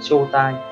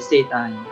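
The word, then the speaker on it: 正体: đọc của nó là chô tai. Cách đọc của nó là chô tai, mình rất hay nhầm từ này, cách đọc của nó là chô tai với xê tai, chô tai, xê tai.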